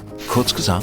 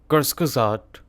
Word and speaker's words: Kurzgesagt: Respectfully yours, kurzgesagt fact check. Okay, that's how you pronounce it. Kurzgesagt.